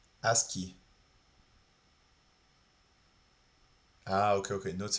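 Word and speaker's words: ASCII: As key as ci. Ah, that's how you say it. Aski.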